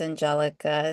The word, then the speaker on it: Angelica: An Angela's being a little distracted, so I'll just jump to Is it Anelica or is it pronounced differently? Hi. Yes, my name is Angelica.